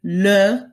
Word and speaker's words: leurs: They both mean their, and you'll notice that the S on the end of leur, plural, does not get pronounced.